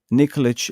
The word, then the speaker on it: Nikolic: So Misha Nikolic, as my daughter would say, Nikolic like Djokovic. You know, the tennis player.